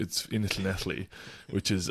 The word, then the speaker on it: Llanelli: And like, I remember Googling the town, and it's in Llanelli, which is, I only know how to pronounce it now because my wife is Welsh and double L makes that sound.